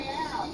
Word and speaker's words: Royale: They're really Royale. You gotta say it like a Royale. Negroni Royale, like a Royale with cheese.